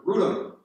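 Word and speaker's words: Wrotham: Now we go to Rutham, which is spelled like Rotham, W-R-O-T-H-A-N, but pronounced Rutham in Kent in the southeast.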